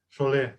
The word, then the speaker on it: Chollet: Como é que é a pronúncia? François Chollet. Chollet, né?